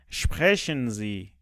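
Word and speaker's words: sprechen: صدای ش داد بله اینجا یه نکته تلفظی داریم اس پ و است ت هرگاه اس بعدش پ یا ت بیاد مثل این چیزی که من نوشتم با صدای ش شروع میشه مثل چی شپشن ه خیلی دقت کنید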